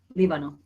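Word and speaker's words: Líbano: It has an accent on the I. It's very tiny in my book. Libano.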